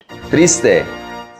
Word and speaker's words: triste: Triste, sad. The TR is pronounced tra, not tra. So the pronunciation is triste, not triste.